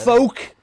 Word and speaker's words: folk: i get the yellow folk you're not you're just saying folk folks that's the word folk music with an l folk no folk no folk music folk like it rhymes with coke folk music that's not